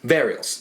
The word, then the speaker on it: Varials: It's I want to say it's Varials. It's Varials. Varials. Yep. Kind of like that skateboard trick.